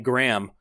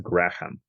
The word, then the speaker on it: Graham: and that's how I learned that it's it's pronounced Graham and not Graham we have two people heavily exposed agent orange